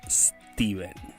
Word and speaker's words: Stephen: Steven se pronuncia Steven.